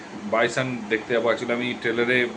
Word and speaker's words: Bison: রিভি বস চ্যানেলে তো আমি অলরেডি বলেছিলাম যে বাইসান দেখতে যাব একচুি আমি ট্রেলারে ভুল উচ্চারণ করেছিলাম তার জন্য ক্ষমা চেয়ে নিচ্ছি মুভির